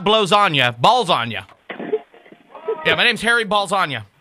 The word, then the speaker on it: Ballsonya: do you need my last name no it's balagna not no let me spell it for you b a l LS o n y a okay no no no not blow Onna ballsagna yeah my name's Harry balagna all right so